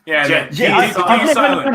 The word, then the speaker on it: djent: Gent. Yeah, Gent. I've never known how to pronounce that. I'm an old fucker, so I've no idea. Just think of it like gentlemen, you know?